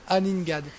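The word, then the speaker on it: Aningaaq: C'est Joseph, mais c'est la vraie prononciation, c'est Aningad.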